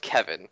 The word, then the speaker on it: Keaven: So just so everyone is aware, the forum name Keaven that you all know and love is actually pronounced Kevin, which I just found out like 5 minutes ago before we started recording this episode.